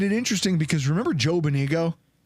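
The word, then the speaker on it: Benigno: He's Bonino. Bonino, but it was spelled with a G. Yeah. You know how you know how gnome has a silent G at the front of it? Same thing.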